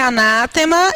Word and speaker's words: anátema: A pronúncia é anátema e significa maldição.